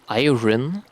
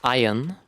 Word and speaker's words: iron: But when I found out that it's not called iron, but it's called iron and you don't pronounce the R, dude, I was heartbroken.